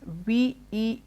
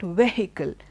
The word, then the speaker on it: vehicle: Sometimes some people take you by surprise when you hear them say vehicle with that H being stressed. It's not vehicle. You have an H there, I agree, but the H is silent.